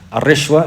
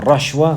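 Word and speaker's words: الرشوة: Al-Rishwa, it means bribery. It means bribery. You say al-Rishwa, al-Rashwa, wa-Rushwa. Yani muthalith al-Ra. It's pronounced in all three ways. Al-Rushwa, al-Rashwa, wa al-Rishwa.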